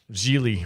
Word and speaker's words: Gigli: your final thoughts on geely rhymes with really i'm ashamed that you